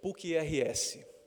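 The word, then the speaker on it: PUCRS: University of Hilusu which goes by its acronym PURS and we pronounce it Pukia and I speak on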